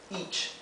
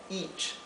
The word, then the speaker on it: each: Each, ¿verdad? Each. La E con la A se pronuncia I, una I acentuada.